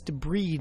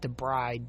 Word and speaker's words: debride: And it's debride, not debride. Debride is the woman who walks down the aisle of the church.